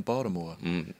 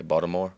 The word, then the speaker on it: Baltimore: say Baltimore to me there's no T in Baltimore it's a d Bal okay Baltimore Baltimore Baltimore yeah it's Baltimore and